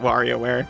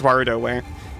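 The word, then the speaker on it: WarioWare: So, not Wario wear. Unfortunately, not. It's Waroware.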